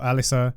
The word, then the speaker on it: Arisa: It should really be pronounced like Arisa or Alysa. As you can hear in game, my excuse is that I've played a bit too much Tekken.